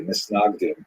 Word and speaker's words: Misnagdim: known as the Mitnagdim, or the Misnagdim, as would be pronounced in Ashkenazi pronunciation.